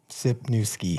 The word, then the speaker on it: Sypniewski: He made a shirt once of a guy sipping a beer and then a a little baby and a guy skiing so you could pronunciate my name. Sipki.